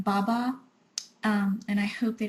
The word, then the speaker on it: Baba: the wrong way but I'm positive is Baba that's how you say it pronounce it but it's b-a-b-a and you know that